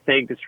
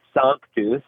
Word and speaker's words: Sanctus: But we say sanctus. And then real, as an English word, could also be a Latin word. So we've got a Latin word that we pronounce as though it's English, and then an English word that could be Latin.